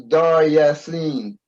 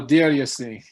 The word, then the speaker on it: Deir Yassin: I thought it was Dar Yassin. No, Deir Yassin.